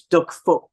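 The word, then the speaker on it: Đức Phúc: You don't say the last C on his second name. So it's Duck Foot. So you don't pronounce the C, or else it becomes something that we all know.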